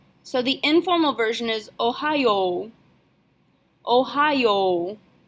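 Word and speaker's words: おはよう: the informal version is Ohio Ohio even though it's spelled with a y.o.u at the end we're still going to pronounce it like it's just an O sound Ohio you'll also notice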